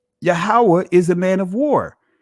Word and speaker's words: Yahweh: You'll see the YHWH, which is the proper pronunciation of the Most High's name, Yahweh.